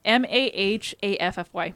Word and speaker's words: Mahaffy: The remains were identified as those of a woman named Leslie I can't pronounce his name. Maffey? Steve. Mahaffy.